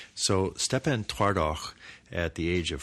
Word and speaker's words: Szczepan: It's spelled S-Z-C-Z. That's 4 letters before we reach a vowel, which is E, and then P-A-N. And I think that's Szczepan. And then Twardoch is T-W-A-R-D-O-C-H. So Szczepan Twardoch, at the age